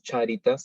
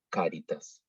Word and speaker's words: caritas: Entonces, no decimos charitas, sino caritas.